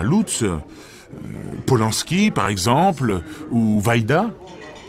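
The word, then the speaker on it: Łódź: qui s'appelle et l'autre je ne sais pas comment on prononce mais oui bien sûr c'est en pologne mais les polonais ne prononcent pas comme ça tu coc exactement je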